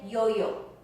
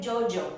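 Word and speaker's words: yoyó: people from other countries, they say Jojo, and it sounds like the J again. So a lot of times there is no difference in pronunciation in Spanish between the Y and the Y and the EJ, the double L. So you say Jojo, you say Yate, ya, and or you could say Yo-yo and Yate.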